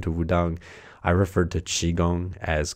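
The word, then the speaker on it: qigong: Wudang I referred to Qi Gong as "Qui" Gong just because in English every Q, there's always a U sound after and so I just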